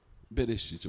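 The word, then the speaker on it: בראשית: Berechite. Bereite. Berechite.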